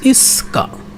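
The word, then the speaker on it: 五日: ইক্কা, উচ্চারণটা হবে এরকম যে ইক্কা, সরি ইক্কা না, ইস্কা, মানে এটা একটু বড় হবে, একটু ভুল হয়েছে,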